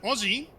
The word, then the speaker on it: Aussie: By the way, Aussie, as in Australian, is pronounced the same way as Ozzy Osbourne. Exactly the same.